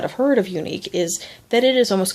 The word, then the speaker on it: Younique: It's YOUNIQUE. Unique, but not like it's normally spelled.